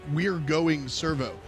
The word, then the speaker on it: We Garn Servo: oh and there was so I tried the the pronunciation because that's really what the team name is we Garn servo which sounds like nothing but so with the Australian accidents we we're going servo it's like going to